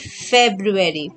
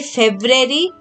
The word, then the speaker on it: February: february so let's write february pronounce it correctly so you will remember the spelling fred if you say february then you will not